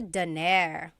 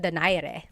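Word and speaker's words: Donaire: So, our first poll here is going to be Mani Pacquiao versus Nonito Daire or is in in the Tagalog uh pronunciation. Nonito Dere.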